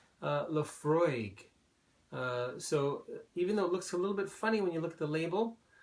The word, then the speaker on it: Laphroaig: say Laphroaig, or however you might say it. Laphroaig is the correct pronunciation.